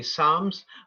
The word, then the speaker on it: Psalms: Bible we will say Psalms but they'll spell it with a p do they spell it with a p in German also yeah PS MH yes but nobody pronounces the P they've done that on